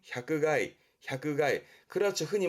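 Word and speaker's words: 百害: 발음은 향가이 향그가이 그렇죠.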